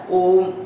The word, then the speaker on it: Om: We should not split Om when we pronounce it or when we chant it as a mantra as A, O, M.